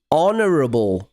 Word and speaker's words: honorable: but we'd say an honorable man because the word honorable begins with the sound o, which is a vowel sound. That word begins with the letter h because it's honor spelled with h.